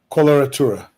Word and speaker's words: coloratura: Coloratura.